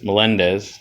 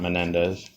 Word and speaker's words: Melendez: Uh, 1971 Topps rookie of Reggie Cleveland and Luis Melendez, not Menendez. Oh God, no.